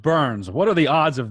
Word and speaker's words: Byrns: And it's also very ironic that my last name is Burns. Yeah, it's pronounced Burns.